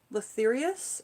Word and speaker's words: Lathyrus: So sweet pea, the way that we pronounce the name is Lathyrus, L-A-T-H-Y-R-U-S, Lathyrus, Lathyrus, odoratus, Lathyrus odoratus.